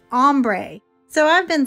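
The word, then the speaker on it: ombré: by my granddaughter cadence it is not ombre it is ombre so i've been saying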